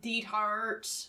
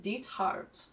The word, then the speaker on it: Diethard: I just am trying to say it in the German way that it would be, because it's a German name. Diethard. Yeah, the way it's spelled and not the way they say it in the show. Yeah. When they're constantly like, oh yeah, Diethard. It's very unfortunate. They really emphasized that last half.